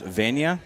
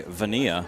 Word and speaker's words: Vana: it's uh unfortunate but is your last name pronounced Vana Vana yeah I heard somebody say vania yeah nobody nobody nobody